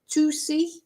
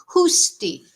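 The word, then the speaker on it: Huszti: Uh sorry, Husi. Uh somebody has let me know how to pronounce her surname. Husti. So, this is Elisa and Henrietta Husti. I hope I've uh pronounced it correctly this time. Uh somebody, one of my chatters, let me know how it's pronounced, so it's Elisa and the surname is Husti.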